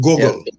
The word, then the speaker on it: Gogol: Gogol, correct my Yes. pronunciation. Yeah, Gogol.